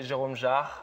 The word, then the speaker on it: Jerome Jarre: It's Jerome Jarre? Yes. Am I saying it right? I mean, in French, we say Jerome Jarre, but I'm not going to ask you to Jerome say Jarre.